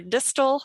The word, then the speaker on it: Distel: Arthur Brook, Piper Distel, I said it right? Rhymes with thistle, kind of.